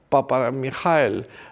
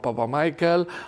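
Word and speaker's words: Papamichael: años 60 y que se llamaba Fedon Papamijael. Lo estoy pronunciando en griego porque a veces aparece como Papa Michael o Fedon con PH o lo que sea, pero el caso es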